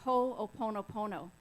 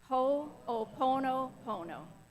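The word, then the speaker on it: Hoʻoponopono: So today we're going to be talking about Ho'oponopono.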